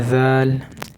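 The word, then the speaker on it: ذال: এটা জাল। জাল। জিবার আগা সামনের ওপরের দুই দাঁতের আগার সাথে লাগে উচ্চারণ করতে হবে।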